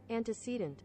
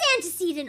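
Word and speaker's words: antecedent: Anticant. It is anticedent. Oh my god. Oh my god. It is anticedant. Anticcedant. I've been saying it wrong the whole time.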